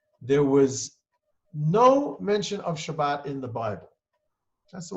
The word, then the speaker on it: Shabbat: just with a t there is really no th sound in modern hebrew so therefore shabbat turned